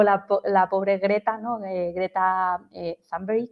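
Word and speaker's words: Thunberg: la pobre greta no greta zber que es como se pronuncia por lo visto su nombre Creta tumber eh que parece que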